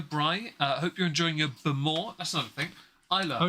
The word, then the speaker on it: Bowmore: Hope you're enjoying your Bemore. That's another thing. Isla. Oh, yeah. Spelt Bowmore, pronounced Bemore.